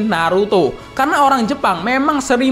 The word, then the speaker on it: Naruto: lokal negara kita dan jika nama Narto di dibaca dengan logat Jepang akan menjadi Naruto karena orang Jepang memang